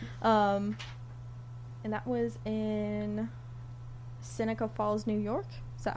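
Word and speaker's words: Seneca Falls: Um and that was in Synica Falls, New York. Is that how you pronounce that?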